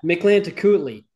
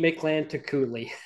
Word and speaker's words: Mictlantecuhtli: Now, you're going to have to help me with the next song, the pronunciation. Right. Yeah, Mictlantecuhtli. So, and repeat after me, Mictlantecuhtli.